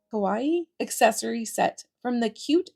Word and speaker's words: kawaii: this I don't know it's like Hawaii but with a k so kawaii kawaii accessory set from the